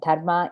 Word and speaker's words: dharma: obligation the four-fold pursuit dharma dharma comes first dharma is the hindu word that we translate into justice it's sanskrit but also used in many other languages pronounced slightly differently but darma is justice and the second